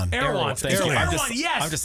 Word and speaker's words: Erewhon: Most expensive Yeah, it's like E R E W Erewhon. Erewhon. I'm just I'm just like, "What is this?" So, Erewhon It sounds like a weird race of elves